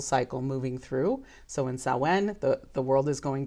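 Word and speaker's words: Samhain: comes from Gaelic so it's definitely pronounced a lot different than it's spelled but it's a Celtic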